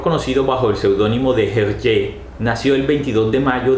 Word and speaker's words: Hergé: Desde 1924, Georges Remy comienza a firmar sus ilustraciones con el nombre de Hergé, que forma con la pronunciación de sus iniciales RG, Remy Georges Hergé.